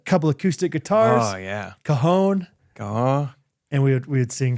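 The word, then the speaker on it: cajón: Oh yeah, cajon. Oh. And we would sing some songs. Texas would pronounce it Cajun.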